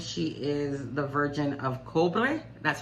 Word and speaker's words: Cobre: In Cuba, I think she is the Virgin of Cobre. That's how you pronounce it.